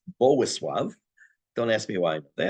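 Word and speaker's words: Bolesław: There's a king who's known as, it's spelled Boleslav. It's actually pronounced Bowisław.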